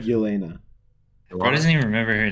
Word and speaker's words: Yelena: If I may make a comment, you're talking badly about Red Guardian and what's Elena. Elaine? Did I say it right? Yelena.